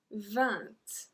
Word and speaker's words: vingt: 20. 20. We don't pronounce the G. 20. We don't say vingt. Vingt. I don't know what to say actually. But we say 20.